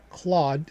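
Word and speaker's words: Clawd: And that's essentially what Claude CL AWD was going to do. Now, of course, seasoned desists, right? Not spelled the same, pronounced the same, anthropic, was going to do their own thing.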